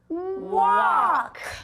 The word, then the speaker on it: walk: And now this is a tricky one. It's just the k sound. Remember those silent letters? Oh, those little ghost letters. That's right. So this is w, Ah. Walk.